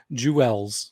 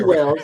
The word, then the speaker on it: Jewels: You gotta say it Jewels. Yes, right. Jewels. I'm sorry. I I know was what like, I Jules always thought that was Jules. it is. I know what Jules spelled the same way, so I'm like, it's Jules, but Jewels, sure.